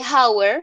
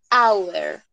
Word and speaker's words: hour: es una de esas, en donde la H para esta palabra, únicamente para esta palabra, no va a tener sonido. ¿Listo? Entonces, al momento de pronunciar la palabra, no voy a decir de hour, sino de hour.